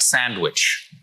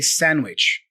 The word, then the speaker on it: sandwich: It's interesting, guys, because normally, we don't pronounce the D for sandwich, you know? We drop the D and we just say sandwich.